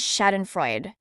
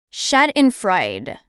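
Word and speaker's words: Schadenfreude: of wooden Birds struck with mads the correct pronunciation of this word is shad and Fred shad and Fred shad and Fred it means pleaser derived from someone else misfor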